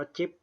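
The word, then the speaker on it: GIF: ครับ ก็ คือ ภาพ ภาพ ชนิด กิฟ นะ ครับ หรือ อ่าน ว่า จิบ นะ ครับ ภาพ ชนิด กิฟ ตัว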